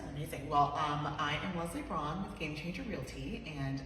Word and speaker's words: Brawn: It's pronounced Brawn, right? Yeah.